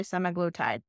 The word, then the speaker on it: semaglutide: but tactical drug semaglutide again 300 different ways to pronounce that I say semaglutide the other we're going